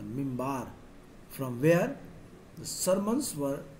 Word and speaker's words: minbar: Qibla, and the pulpit, the minbar, pronounced the mimbar, from where the sermons were delivered during noon prayers on Friday.